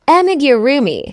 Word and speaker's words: Amigurumi: Yeah, I've always wanted to do, I don't know how to pronounce them, so I'm not going to butcher it, but it's pronounced Amigurumi.